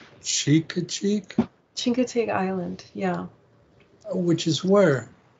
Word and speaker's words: Chincoteague: is this is now in a place called Chincoteague cheek cheek Chincoteague Island yeah which is where it's on the